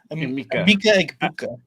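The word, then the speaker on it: Emeka Egbuka: Mika Egbuka. There you go. That Buka, whatever. Yeah, something like that. Something like drop that. A bunch of vowels on the floor. Mika Egbuka.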